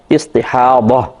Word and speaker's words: استحاضہ: تو ضا ہے، ضاد جس کو کہتے ہیں ضاد اور ہا، استحاضہ، اور اردو میں استحاضہ کہہ دیتے ہیں زے کے ساتھ، تو یعنی ہے ضاد ہی لیکن اردو میں ہم زے کے ساتھ تلفظ کرتے ہیں استحاضہ۔ استحاضہ کا مطلب